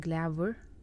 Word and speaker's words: glavur: slide, when nouns end with U, R, sometimes it just fades away a little bit, but hestur and glavur, hestur, glavur, it's hard to point out what exactly it is that Faroese people are pronouncing, but just know that it's spelled like UR, even though you might not hear that it is.